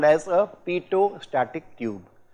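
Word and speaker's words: Pitot: is called as a PTO static tube the last T is silent it's called as a poost static tube and this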